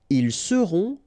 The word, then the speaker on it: ils seront: the end, et serez, ils seront, final T not pronounced, elles seront.